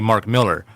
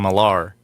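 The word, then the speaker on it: Millar: he's from Scotland and his name is actually Mark Miller but everyone in America just likes pronouncing his name malar and he he never corrected them because he spell it m i l a r yeah okay yeah why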